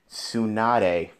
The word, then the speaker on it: Tsunade: Wait, how do you pronounce her name again? Tsunade.